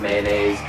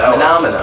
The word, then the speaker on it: Manamana: Anytime you meet somebody and they're like, how do you say the name? Manamana, Manamana? No, not mayonnaise. It's Manamana.